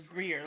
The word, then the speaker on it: Briere: I don't know why people mess it up, but it's Brier. Like like how you spell beer, but Brier and Beer and Brier are spelled differently.